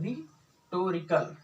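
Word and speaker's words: rhetorical: अब हम बात करने वाले 6 नंबर पे है, जिसको हम बोलते हैं रिटोरिकल, रिटोरिकल क्वेश्चन। एच हमारा साइलेंट रहता है।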